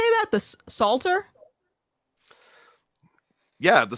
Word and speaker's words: Psalter: The Psalter? Yeah, the Psalter.